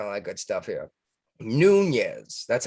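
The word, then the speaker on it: Nunes: Speaking of Congress and all that good stuff here, Nunez. That's how you pronounce that one, right?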